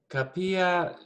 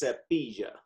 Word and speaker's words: cepilla: Se capilla su pelo. Yeah, and so this is pronounced cepilla.